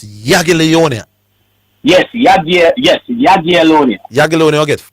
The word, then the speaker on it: Jagiellonia: So the just for the record, people, the spelling is Jagiellonia, but it's Jagiellonia.